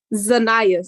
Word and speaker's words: Zanaya: The stress is on Z, on N. Zanayas.